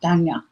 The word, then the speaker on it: Danya: It's not Donna. I was saying it wrong. I was corrected last night by someone who was Spanish. Okay. And she said it's Danya. Danya.